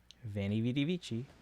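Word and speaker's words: veni: veny. Actually, in Latin that would probably be weny widywiki. Uh because in Latin the V's are actually pronounced like W's. It's not Italian.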